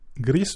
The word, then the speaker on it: Gris: joué à un jeu qui s'appelle Gris du coup puisque c'est des hispaniques donc on va le prononcer comme ça.